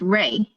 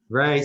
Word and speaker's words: Rui: actually, my name is pronounced Ray. Ray, sorry, Ray.